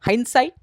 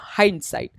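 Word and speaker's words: hindsight: हम लोग कहते हैं हान साइट या हाइंड साइट ड का आप उच्चारण कर भी सकते हो या फिर नहीं भी कर सकते हो तो आपके ऊपर है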